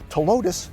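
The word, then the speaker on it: Ptilotus: there so that is to lotus the p is silent joey improved hey check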